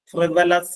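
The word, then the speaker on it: frivolous: ആ വേർഡ് കൂടി ശ്രദ്ധിക്കുക ത്രിവലസ് എഫ് ആർ ഐ ബി ഓ എൽ ഓ യു എസ് പ്രിവലസ് എന്നാണ് അതിന്റെ ഉച്ചാരണം പ്രിവെലസ് ട്രിവലസ് മീൻസ് തുച്ഛമായ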